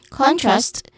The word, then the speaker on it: contrast: Contrast, con is stressed, and then yeah, contrast.